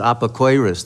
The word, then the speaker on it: Epicurus: jews they they call they pronounce it apocarus the worst thing you